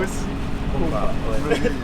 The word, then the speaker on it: Nosy Komba: Normalement c'est Ankumba. Nosy Ankumba, mais il n'a pas arrivé à prononcer Ankumba, mais c'est Kumba. Kumba. Ah, d'accord. Nosy Kumba.